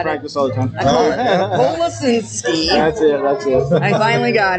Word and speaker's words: Kolasinski: Kolasinski.